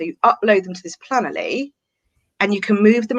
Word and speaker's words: Planoly: So I would say Planoly. So it's Plan-O-L-Y. But other people pronounce it Planoly.